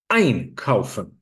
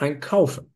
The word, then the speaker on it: einkaufen: When a prefix is separable, it has the word stress of the verb. So it's einkaufen. It's not einkaufen. But verkaufen, the word stress is on kauf. It's never on the inseparable prefix.